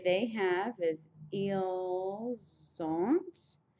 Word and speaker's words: ils ont: And then to say they have is ils ont. Again, the liaison will happen again.